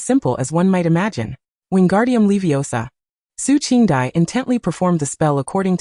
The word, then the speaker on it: Wingardium Leviosa: Fearing for her own safety and quickly pointed out his mistake, you mispronounced the incantation. You must elongate and articulate the gar and leiosa properly.